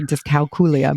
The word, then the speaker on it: dyscalculia: So, but it is the correct way to say dyscalculia, but dyscalculia.